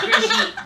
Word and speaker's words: Brigitte: Her name is pronounced Brigitte, by the way.